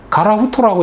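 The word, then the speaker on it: 樺太: 사할린을 이제 그 화태라고, 가라후토라고 읽는데, 사할린에도 신사를 합니다.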